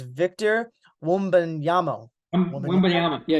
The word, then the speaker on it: Wembanyama: Wembanyama. Yeah, like you said, just say it fast. Wembanyama. Yeah, Wembanyama. Wembanyama. Yeah, if you say it fast, you get it. That Victor guy's Wembanyama.